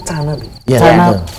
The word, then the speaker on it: Channabee: Ini bacanya Canabi. Cana apa kana? Canabi.